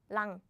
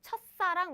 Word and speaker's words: 첫사랑: So it's 첫사랑, 첫사랑, 첫사랑. But now you can guess. 짜란. Big problem, big news. They bumped. So the pronunciation changes to like 싸, as in 싸.